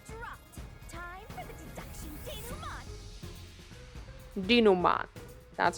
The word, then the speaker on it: denouement: Time for the deduction denouement.